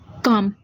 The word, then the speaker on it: calm: काम, स्पेलिंग में तो क्या दे रखा है? CALM, लेकिन हमने इसकी स्पेलिंग पे ना जाके किस पे जाना है? इसकी साउंड पे। और ये साउंड किसकी कर रहा है? काम। काम की साउंड आ रही है तो हमने जो लिखना